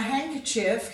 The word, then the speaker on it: handkerchief: Now handkerchief comes from, you could really say that D is silent.